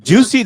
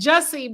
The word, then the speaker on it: Jussie: Remember, it's Jussie, but that's what they called him, Juicy Smollett.